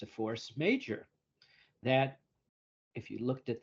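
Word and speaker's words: force majeure: may have heard it Force Major right it's pronounced major even though it's you know spelled that way it's a clause it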